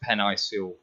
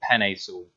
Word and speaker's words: Penei Sewell: is seeing Jefferson running off right tackle with Penei Sewell. Well, I know how to say his name and I've just said it wrong. Penei Sewell.